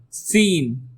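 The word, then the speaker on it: س: Next is scene. Scene. It sounds like seen a movie.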